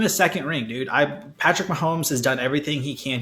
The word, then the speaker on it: Mahomes: try to minimize patrick mahomes yeah pronounce this obviously kept saying my homies they always have a